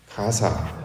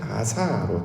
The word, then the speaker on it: 가사: 근데 이제 원래 히브리어 원어를 살펴보시면 가사라는 말은 없고요. 원래는 아사로 되어 있습니다. 히브리식 발음은 아사인데 이걸 영어로 바꾸고 또 이걸 바꿔서 우리말로 오기까지 가사라는 말로 바꿔 쓰고 있습니다.